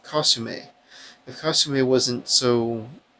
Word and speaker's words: Kasumi: if Kasumi was her Kasumi that's not how her name is pronounced costume a the costume a wasn't